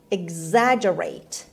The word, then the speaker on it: exaggerate: of lesson eight is exaggerate exaggerate exaggerate hum turkey beneath stress is on the second syllable stresses they has exaggerate